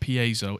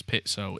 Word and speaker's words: piezo: owie because it's not piezo it's pit so it's an Italian word that's how Italians pronounce it that's my final word